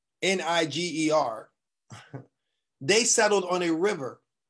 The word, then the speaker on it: Niger: These people that the Romans called N-I-G-E-R, they settled on a river. And the river was called N-I-G-E-R, right? They pronounce it Niger River.